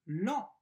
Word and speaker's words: lent: réponse le règlement est lent le règlement est lent le règlement c'est le nom comente je prononce en lan c'est l'adjectif ent je prononce en le règlement est lent